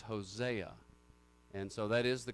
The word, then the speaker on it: Hosea: But actually, Hosea is the correct pronunciation, because our Old Testament books get their name from the Greek. And the A sound there is the Ada, and so it's Hosea.